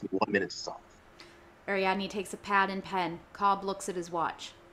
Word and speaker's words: Ariadne: by as students file out of a lecture ariadne is how you say it a young woman